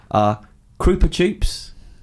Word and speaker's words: Krupa Choops: Krupa Choops or Chupa Kroops. Is that supposed to be a bit like Chupa Chups, Yeah. but it doesn't quite rhyme? No, that's how you say it.